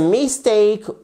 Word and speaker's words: mistake: Vous avez déjà l'accentuation sur la seconde syllabe.